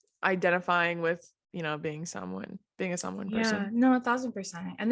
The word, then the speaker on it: Samoan: And he would tell me, you need to be proud, like same thing, you should be proud of being, and it's Samoan, not Samoan.